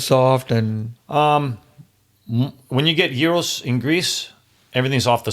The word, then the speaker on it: gyros: The gyros in Greece are. How do you say that? Gyros. Gyros. Okay. Gyros. A lot of people say gyro or gyro. No, gyros.